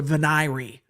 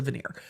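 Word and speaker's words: venire: have enough people to make a veneer even though po calls it a vanir not that I can not that I can criticize anyone else's pronunciation of anything cuz I am horrible it's a veneer um which is the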